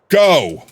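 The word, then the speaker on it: Geaux: G E A U X. What do you think that spells? Go. That's what it spells.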